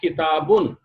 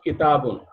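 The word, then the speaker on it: كِتَابٌ: we write this way, but we will pronounce it as we pronounced here, the previous one. The previous one was pronounced kitabun, isn't it? This one was pronounced kitabun.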